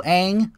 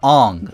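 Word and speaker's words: Aang: is voiced by Tom Kenny the man though Ang uh sorry on W good thing I saw the Avatar movie so I know it's pronounced on is voiced by Dustin sardella because the original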